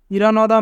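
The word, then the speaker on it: 일어나다: ইরানাদা, ইরানদা মানে সকালে ঘুম থেকে ওঠা। এখানে বাচ্চিমের পরে ইয়ং থাকার কারণে ইয়ংয়ের স্থানে বাচ্চিমটি যাবে, তাই উচ্চারণ হবে ইরানাদা।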